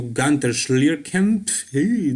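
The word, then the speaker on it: Günter Schlierkamp: here you can see him posing next to gunter schlierken that is how you pronounce his german name but yeah gunther was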